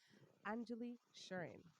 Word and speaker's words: Anjuli Sherin: This is your host, Diana Garcia, and today I have the honor and privilege to introduce to you Anjuli Sherin.